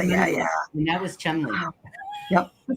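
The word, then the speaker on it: Cholmondeley: ciao mundeleinely yeah yeah yeah and that was Chumley well we have the same thing here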